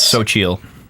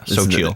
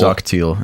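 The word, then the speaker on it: Xochitl: Yeah, So Chill. XO. XO, it's like Zockville. Zockteal is what Yeah. it looks like. Yeah. But it's pronounced So Chill.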